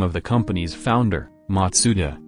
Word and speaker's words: Matsuda: The name also derives from the name of the company's founder, Matsuda, which is pronounced Mazda in Japanese.